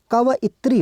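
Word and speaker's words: कवयित्री: इसका देखें आप तो उसका उच्चारण होता है यहां पर क व इत्री होता है।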